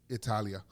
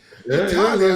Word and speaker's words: Italia: Italia. Well, I kind of said it. That's how they say it. That is how you say it. Italia at 51.4 pounds per capita.